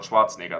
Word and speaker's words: Schwarzenegger: Like if you look at Arnold Schwarzenegger, or Arnold Schwarzenegger, that's how he's actually pronounced in German.